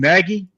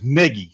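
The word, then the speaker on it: Nagy: to see I always want to call him naggie yeah so I I remember his name is Negi so that's why I got to try to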